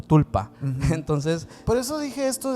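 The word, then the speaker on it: sprul pa: que se le llama el esprulpa, que se pronuncia básicamente como tulpa.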